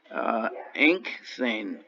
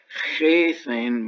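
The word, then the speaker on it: ἤχθην: It explains how, for example, the aorist passive of ago becomes inkthane. We don't pronounce the chi before theta as chethane, but simply as an N sound.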